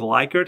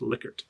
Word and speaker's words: Likert: you might have heard it previously as a likert and that's how i always pronounced it but i learned recently that the man's family actually corrected researchers and said no it's pronounced likert all right next is interval so these are